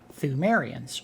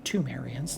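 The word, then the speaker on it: Ptheumerians: a race of people known as the thumerians or tumerians depending on how you pronounce it see if we see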